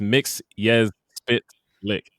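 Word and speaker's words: Mxyzptlk: series he breaks it gilbert godfrey breaks it down it's mix yes spit lick yeah but anyway he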